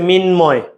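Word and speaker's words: মৃন্ময়: এই যে ভাইয়া মিন ময়, একদম সহজ ভাইয়া মিনময়।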